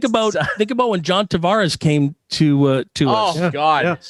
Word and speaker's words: Tavares: was put to him how would your grandfather pronounce it and he said tavares he says that's the portuguese way it's tavares so that's what we